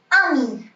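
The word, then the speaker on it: amie: ए एम आई आमी, अगर friend girl है तो ए एम आई ई, बट आप इसको भी प्रोनाउंस करेंगे आमी।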